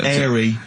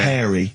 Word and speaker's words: hairy: Sorry, I noticed both of you there dropped the H, or the H, or however it's pronounced. I had to. So airy kids, hairy.